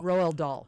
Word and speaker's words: Roald Dahl: This comes after the editing of, how's the pronunciation of this? Roald the Dahl books, D-A-H-L. Roald Dahl.